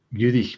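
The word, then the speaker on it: dh'fhuirich: Gurich me. So again, FH is silent. It's like this word starts with a U. Gurich. Add the DH because it's a vowel.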